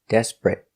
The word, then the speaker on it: desperate: T desperate desperate desperate two syllables the stress is on the first syllable desperate not three syllables desperate but two syllables